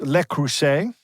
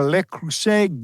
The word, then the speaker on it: Le Creuset: Swift talking about a Le Creuset giveaway. Oh. It rhymes nicely. I didn't even realize that because I had written everything here and didn't get the French pronunciation rhyming with the English.